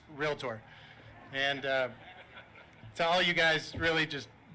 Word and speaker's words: Realtor: And despite how some bad pronunciators might argue with this, there is no I in Realtor. It's Realtor.